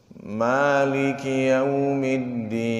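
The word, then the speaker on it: مَالِكِ يَوْمِ الدِّينِ: Terakhir ayatnya Maliki yaumiddin. Ma itu 2 harokat matnya itu. Jadi ma-nya itu jangan dikasih cengkloan. Seperti gini, Maliki yaumiddin. Ah, itu sudah bertambah sebenarnya.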